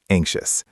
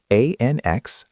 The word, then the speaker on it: anxious: And word number 3 is anxious. A-N-X-I-O-U-S. Careful. The X sounds like a K and S together.